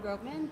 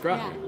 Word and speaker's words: Gropman: Hi, this is Dad Mom Jokes, and I'm here with Gropman.